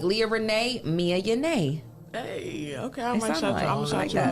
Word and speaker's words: Mia Yana: It's actually pronounced Mia Yana, but sorry, my Yana. name always been pronounced wrong.